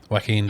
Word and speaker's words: Joaquin: I can never get his first name right. Waqeen? Waqeen, there we go. Why doesn't he spell it? w a c k e e n Cuz that would be incorrect.